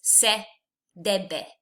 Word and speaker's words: debe: The important thing here is it's full of the letter E, which in Spanish is pronounced E. So it's se debe.